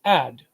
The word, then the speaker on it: ad: word for father is ADD and that's the word for it's pronounced add and the word is